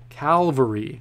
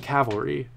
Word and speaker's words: Calvary: I'm sorry I kept saying that wrong Calvary did I write it for some reason I wrote it down correctly as Calvary but I was saying cavalry all right I'm sorry